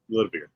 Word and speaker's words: Nidavellir: I was trying to find the pronunciation. I just had the spelling. Got to listen to the Google. Like, oh, it's Nidavellir.